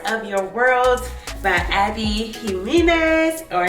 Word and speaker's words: Jimenez: So the next book that I am so excited about, y'all, is Part of Your World by Abby Jimenez, or Jimenez. I think the J is silent.